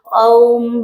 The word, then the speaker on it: ओम: ओम नहीं बोला जाता अ उ म इन तीनों से मिलकर ओम शब्द बनता है तो ओ रंग राहवे